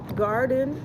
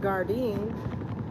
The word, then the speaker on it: Gardein: Beyond, Impossible, Morning Star, Garden, which I guess is pronounced Gardein, Boca.